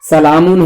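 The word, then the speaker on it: سلٰم: ہے لکھا جاتا رحمن, سلامن ہے لکھا جاتا سلم.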